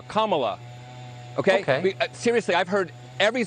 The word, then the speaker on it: Kamala: um host on Fox her name is pronounced comma like the punctuation mark La Kamala okay seriously I've heard